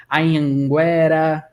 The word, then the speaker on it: Anhanguera: Por exemplo, Anhanguera, Anhangabaú. Esse Anhan, eu tenho que nasalar esse som.